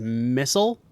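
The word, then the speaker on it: Mistol: So it's Mistle, right? M-I-S-T-O-L. But I think you pronounce it as missile, right? Or at least some people do, is missile instead of mistle.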